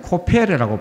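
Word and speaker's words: כֹּפֶר: 그래서 역청을 이 성경의 원어에서는 코페르라고 발음합니다. 코페르.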